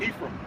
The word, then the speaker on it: Ephraim: Man, what does, because I'm Puerto Rican, I just looked over and I see this, I'm not sure how to pronounce it, Ephraim? Ephraim.